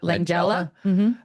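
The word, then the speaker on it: Langella: Uh, Frank Langala, I don't know how to pronounce his last name. Langela.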